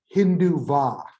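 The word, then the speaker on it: Hindutva: in india and that's hindu va and i'll spell this for you because it has a silent t it's h i n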